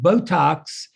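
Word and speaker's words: Beautox: flair so i decided to name the mascot botox and it's spelled b-e-a-u to put a little cajun twist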